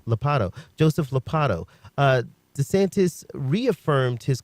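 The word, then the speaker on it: Ladapo: with Florida Surgeon General Joseph, how do I pronounce his name? Lopatto.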